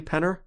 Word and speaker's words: Penner: And, am I pronouncing that correctly, Penner?